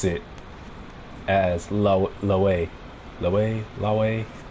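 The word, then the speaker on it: Lethwei: la la la way because it's spelled l-e-t-h-w-e-i and so i guess it just depends the accent you have and what language you're speaking it in where it could be pronounced as left way where you pronounce the th or the way where you pronounce it without the th man human language is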